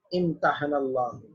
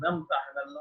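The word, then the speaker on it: امتحن الله: इम्तहनल्लाह, वो जो हम पढ़ते हैं ना, उलाइकल्लज़ी नम्तहनल्लाह, वो लफ्ज़ है असल में इम्तहनल्लाह, लेकिन चूंकि मिला के पढ़ते हैं तो अलिफ जो है वो साइलेंट हो जाता है, लिहाजा वो उसको नम्तहनल्लाह पढ़ा जाता है।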